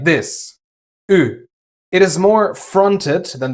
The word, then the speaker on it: ü: next to it and a reliable method of pronouncing the German U is to start with e first. You then keep your tongue at the exact same position and only round your lips. Ü So, u comes from the back of your mouth and ü from the front.